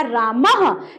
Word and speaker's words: रामः: है, क्योंकि यहाँ पे उच्चारण भी राम नहीं होगा, उच्चारण होगा रामः, क्योंकि विसर्ग का मतलब होता है ह की तरह उच्चारण होनी चाहिए।